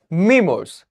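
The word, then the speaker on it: memoirs: मैं अह अह इसको बोलेंगे अम इसको आप लोग अच्छे से प्रोनाउंस करना खाली इस स्पेलिंग को देख के नहीं आप इसको बोलो यही लिखा हुआ है एम ई एम ओ आई एम ई एम ओ आई आर एस आप आप इसको बोलना मेमोर्स है ना डब्ल्यू ए आर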